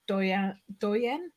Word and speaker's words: Douyin: I understand there's a difference between Douyin, is that how I pronounce it?